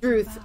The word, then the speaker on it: Druth: Druth. Yeah, it rhymes with truth.